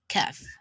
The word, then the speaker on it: Kaf: lips would be flat so you have off and kev of is um a true late translator the mahdi is a li-san kaf is also a song later but the characteristics is just that when you're pronouncing they take calf the truth is not involved so it's just the exact way you pronounce letter k in english just like ketsu king and kong so we have kev